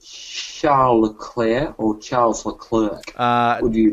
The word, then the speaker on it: Leclerc: out as he said is he said Charlie Leclerc he pronounces it Charles Leclerc oh really yes Wow